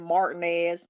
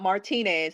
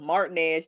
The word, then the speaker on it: Martinez: i lived in augusta i lived in martinez not martinez how it's spelled martinez georgia right right down